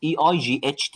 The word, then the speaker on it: eight: SEVEM 8 8 EIGHT الاي اي جي اتش هنا بنطقها A. الاربع حروف دول كلهم بنطقهم A.